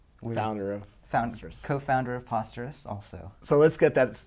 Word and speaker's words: Posterous: Co-founder of Posterous also. So let's get that out of the way. How do you say Posterous? We like to say Posterous as in preposterous.